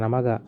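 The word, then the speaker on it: Amagat: পরিবেশ রসায়ন বাস্তব গ্যাস অ্যামাগার পরীক্ষা বাস্তব গ্যাসের আদর্শ গ্যাস থেকে বিচ্যুতি 17 এক্ষেত্রে দেখা যায় 1880 খ্রিস্টাব্দে ফরাসি বিজ্ঞানী অ্যামাগা প্রকৃতি উচ্চারণ অ্যামাগা স্থির তাপমাত্রায় বিভিন্ন গ্যাসের আয়তন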